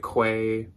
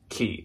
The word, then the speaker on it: Quay: there's a lot of people out there that pronounce it Quay or something I used to think it was Quay and I have finally found out that it's pronounced key so these are very popular a lot of